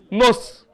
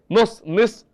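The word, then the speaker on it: نصف: निस असल वर्ड है निस, वो लोग प्रोनाउंसिएशन करते हैं नुस, तो परेशान न हो जाना कल के। तो मैं आपको असली वर्ड भी दे रहा हूं, वो लोग कैसा प्रोनाउंस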